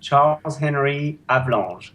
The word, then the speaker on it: Charles-Henri Avalanche: It's Charles-Henri Avalanche. Oh man, Avalanche. I'm sorry. I'm just horrible at pronouncing.